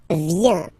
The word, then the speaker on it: viens: First form, je viens. Final S not pronounced. Je viens. Remember, I-E-N, ien, ien. Je viens.